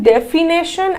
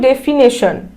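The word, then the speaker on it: definition: চলো next question, রিকগনিশন, stagnation, ডেফিনেশন, অ্যামিউনেশন। এবার দেখো আমরা বললাম ডেফিনেশন, কিন্তু অ্যাকচুয়াল ওয়ার্ডটা ডেফিনেশন না, অ্যাকচুয়ালটা হচ্ছে ডেফিনিশন।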